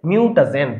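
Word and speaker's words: mutagen: পারে তাদেরকে বলা হয় মিউটাজেন ভুলেও মিউটা জিন বলা যাবে না মিউটা জিন না মিউটা জেন দেখো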